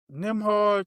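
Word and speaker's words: Nembhard: because is Nimhard even on the Pacers? Then am I saying that wrong? Yeah, you saying it right. So it's He's on it. Nimhard.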